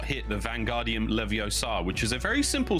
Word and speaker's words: Leviosa: Vanguardium Leviosa, and it is pronounced Leviosa, not Leviosa, friends.